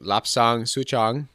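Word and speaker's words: Lapsang souchong: is forgive me if it's switch through the pronunciation but lapsang suchong l a PS n g s o u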